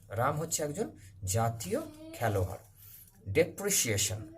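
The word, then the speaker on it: depreciation: হচ্ছে একজন জাতীয় খেলোয়াড় ডেপ্রিসিয়েশন এটার উচ্চারণটা একটু ভালো করে দেখবে ডেপ ডেপ্রি ডেপ্রি C Eshan ডেপ্রিসিয়েশন ডেপ্রিসিয়েশন মানে ক্ষয় ডেপ্রিসিয়েশন অফ রেস্পেক্ট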